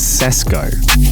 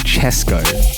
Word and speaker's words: Chesco: probably don't realize but it's actually chesco because his name is francesco so you say chesco not cesco i have been saying